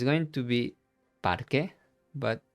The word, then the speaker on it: parque: It's going to be parque, but it's masculine. En el parque. Same rule here. Remember, we don't pronounce the U.